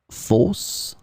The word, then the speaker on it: fausse: In this lesson, we will see together two words that are written differently but pronounced the same way. Fausse, fausse.